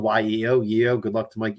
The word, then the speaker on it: Yeo: It's pronounced just like it's spelled, Y-E-O, Yeo.